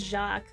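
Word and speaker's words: Jacques: it do I have to say Jack it's jacqu that's how you pronounce that is this Jack yeah I forgot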